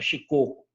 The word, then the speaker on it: Shikoku: Que me colocou a pronúncia que é Shikoku.